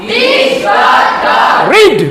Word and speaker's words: read: अब देखिए रीड में क्या है, READ रीड है ना, तो READ रीड, स्पेलिंग सेम होगा, READ। अब प्रोनाउंसिएशन में डिफरेंट है, प्रोनाउंसिएशन अलग होगा। प्रोनाउंसिएशन क्या होगा, रीड रेड रेड, बोलिए तो कम केम